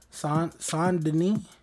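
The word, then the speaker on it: Saint Denis: tell you guys about son denis that's how you pronounce it in story mode but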